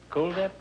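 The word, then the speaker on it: Kuldip: Brenda Daly and Cool Dip. Huh? Is that the way you pronounce it? Cool Dip? Yes, it is like the word cool.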